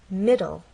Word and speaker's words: middle: in an e but the final sound is an l sound because the E is silent it's especially important in